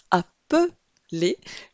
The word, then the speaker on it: appeler: En revanche ici, appeler, la syllabe centrale m'indique que le E se prononce simplement E, il est donc suivi d'un seul L.